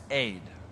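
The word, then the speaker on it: אֵד: ground this word mist it's a hebrew word it's spelled e d okay it's pronounced aid this is what moses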